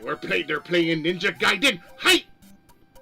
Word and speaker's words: Gaiden: Like we're play they're playing Ninja Gaiden. Hi. They at least I said it right. A lot of people say Gaden. It would have to be ei.